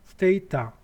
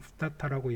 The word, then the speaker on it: Stata: 뭐 발음은 스테이타, 스타타, 스타타라고 이렇게 얘기를 하는데요. 일반적으로 그냥 스타타라고 얘기를 하시면 되겠습니다.